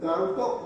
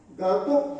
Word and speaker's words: Gangtok: तो इसका सही उच्चारण होता है शायद गांगटोक, यहाँ तक सही होता है। तो इसको गंगटोक बोलने से थोड़ा क्या होता है